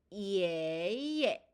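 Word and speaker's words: 爷爷: 자, 발음은 예로 발음을 해보도록 할게요. 예, 예.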